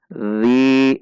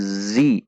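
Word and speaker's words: ذِي: Dzi, dzal kasrah dilanjutkan ya sukun, dua ketukan untuk mad thobi'i. Perhatikan ciri-ciri dan pengucapan dzal, jangan dibaca sebagai zi tetapi dzi, dzi.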